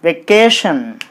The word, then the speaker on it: vacation: So you put the stress mark on the syllable ca k. Then it will be vacation.